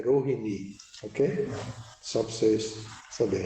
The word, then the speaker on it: Rohini: Agora, Bhagavata, a pronúncia certa é Rohini, ok?